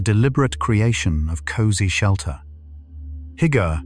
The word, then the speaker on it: hygge: The Scandinavian practice of hygge is built around warmth, soft light, and the deliberate creation of cozy shelter. Hygge, pronounced roughly "hoo-ga", is a Danish and Norwegian concept that describes the art of creating intimacy and comfort.